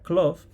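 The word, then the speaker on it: Klow: calles de Cloud Aunque yo entonces pronunciaba Cloud o pensaba que se pronunciaba Cloud pero parece ser que la W se pronuncia duda con lo cual sería cloft la capital de esa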